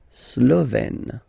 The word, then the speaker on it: slovène: Slovène. Remember, E accent grave, you open it, est, Slovène.